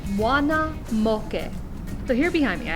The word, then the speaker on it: Muana Moke: pronounce them in english all of your a's are pronounced ah o is pronounced with a pure round o and e's are pronounced e this initial phrase all together is moana moke so here behind me